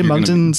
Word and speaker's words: Moncton: Well, see the way Moncton's spelled, it's almost like there's a silent G in it already. Moncton. Yeah. Mung.